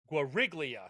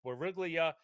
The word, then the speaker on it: Guriglia: and I and it's Guriglia so the G isn't silent. I thought we were going really subtle with a silent G. So it's Guriia. So it's Goriglia and Creoran take